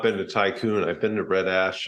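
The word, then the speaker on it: Thai Kun: So it's spelled THAI space KUN. Oh. I think it's kind of a play on the word tycoon, like the tropical storm, but it's just amazing Thai street food.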